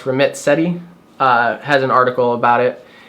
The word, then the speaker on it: Ramit Sethi: So in researching this, I think his name is pronounced Ramit Sethi, has an article about